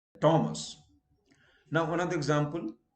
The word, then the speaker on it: Thomas: they tend to pronounce thomas so i have come across people introducing themselves to me um well i am mr thomas or my name is thomas no h is silent thomas now another example h